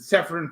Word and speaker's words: Severin: Yeah, that's how you pronounce it. Severin Films.